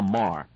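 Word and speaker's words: Meagher: The author in this case is a woman named Sylvia Marr. Her last name is spelled M-E-A-G-H-E-R.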